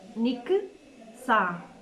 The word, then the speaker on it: Nixa: Pronunciam Nik, Sa.